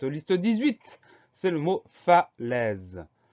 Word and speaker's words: falaise: Première syllabe, fa, F-A, pas de surprise. Deuxième syllabe, les, attention, le son est s'écrit A-I. C'est une des possibilités pour écrire le son est, et dans ce mot-là, c'est bien le cas, c'est A-I.